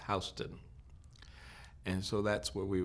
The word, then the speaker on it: Houston: york there's a street spelled houston but it's pronounced houston and so that's where we were living down